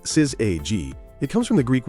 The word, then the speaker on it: syzygy: Pronounced syzygy, it comes from the Greek word for yoked together.